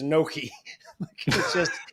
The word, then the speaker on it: gnocchi: do you pronounce it gnocchi? It's so this is going in the weeds, but GN makes almost a Y sound.